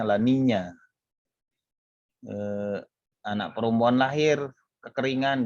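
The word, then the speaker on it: La Niña: berbahasa Spanyol disana maka disebut Lanina laninya dan minyak kalau itunya Elnino pun dibacanya Elnino kayak dingo gitu di kayak jadi NY di belakangnya Lola Nina dibacanya bagi mereka menyebutnya laninya eh anak perempuan lahir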